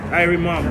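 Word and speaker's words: Irie Mom: Airy Mom.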